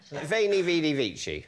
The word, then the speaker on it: veni, vidi, vici: Veni, vidi, vici. Or veni, vidi, vici. Yes. Depending on how you pronounce it.